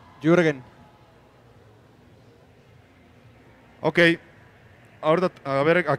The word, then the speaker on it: Jürgen: ¿Cómo se pronuncia? Jürgen.